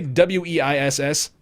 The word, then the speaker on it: Weiss: Ignacio0891, A1 Base, HD, how do you say W-E-I-S-S?